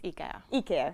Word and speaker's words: IKEA: brands ikea he care how to pronounce it properly finnish student it's ikea yes yes sorry so uh